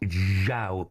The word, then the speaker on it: João: Right, straight away, is it João? João Pedro. Yeah, that's what I thought. Not Yao.